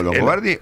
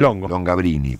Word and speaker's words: Longobardi: ¿Me llamo Longobardi o en su defecto el modo en que muchas personas pronuncian mi apellido de manera defectuosa, pero muy simpática? ¿Cuál? Longabrini, por ejemplo.